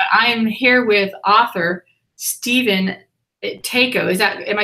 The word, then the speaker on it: Tako: But I am here with author Stephen TAKO. Am I saying it correctly? TAKO?